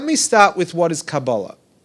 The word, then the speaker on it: Kabbalah: And Kabbalah is how I'm pronouncing it. Of course, you can tell my European background. It could be Kabbalah, Kabbalah, Quabala, however you want to spell it, with a Q, with a K, with a C. They're all incorrect because Kabbalah is a Hebrew word. It's with a kuf.